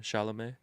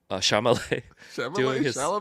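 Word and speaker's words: Chalamet: So, some of these was like uh Timothy, how do you pronounce his last name again? Shalamé. Oh, Timothy, you know, Shalamé doing his thing. Shamal doing his thing. It's Shalam. It's Shalamé.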